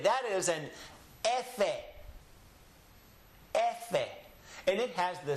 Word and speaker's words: efe: Be, se, che, de, e, efe. The name of this letter in Spanish is efe. Repeat after me. Efe. In English, of course, we call it an F.